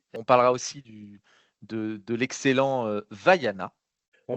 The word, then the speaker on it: Vaiana: Et oui, Vaiana, exactement, tu le prononces bien pour une fois.